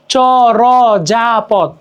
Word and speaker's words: চর্যাপদ: কি কল্যাণ যেমন কল্যাণ চর্যাপদ চর্যাপদ জ এর উপরে রেপ আছে বাট আমরা যখন উচ্চারণ করতেছি কি করতেছি চরজাপথ চরজাপথ তো ব্যাপারগুলো এমন কি